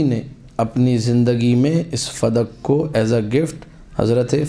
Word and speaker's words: فدک: میں لکھ رہا ہے۔ فدق لفظ غلط ہے، جو لوگ کہتے ہیں فدق، یہ غلط لفظ ہے، اصل لفظ اس کا جو صحیح تلفظ ہے، کریکٹ پروناؤنسیشن یا پروننسیشن جو بھی ہے وہ ہے فدق بے فتح الفاء والدال، فدق۔ بلدتن، یہ ایک شہر